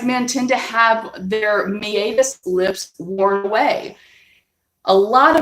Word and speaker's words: meatus: It's called a meatus or meatus. Americans mispronounce that. It's Latin.